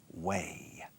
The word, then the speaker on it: weigh: Okay, weigh. Se pronuncia como manera o camino. Por ahí, this way, that way.